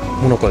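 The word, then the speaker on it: 最中: モナカでしょ。え、それ以外になんかあるの。正解。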